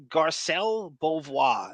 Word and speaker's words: Garcelle Beauvais: Know this broad, Garcelle Beauvais.